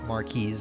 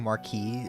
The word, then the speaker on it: marquise: Marquise is the right pronunciation. Okay, for some reason I was thinking marquee is like a piece of furniture or something.